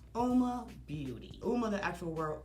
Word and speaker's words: Uoma: Again, Uoma Beauty, O-U-M-A, it's pronounced Uoma.